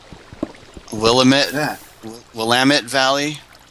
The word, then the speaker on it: Willamette: oh we're uh let's call will admit that willamette valley it's pronounced Willamette Valley but that's think that's Washington